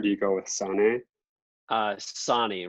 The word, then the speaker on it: Sonne: Sonny rhymes with John.